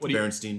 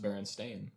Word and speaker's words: Berenstain: it was it was the barons something what berenstein bears you remember berenstein bears yeah okay that's